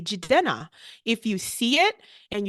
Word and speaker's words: Jidena: I want people to learn how to say Jidena.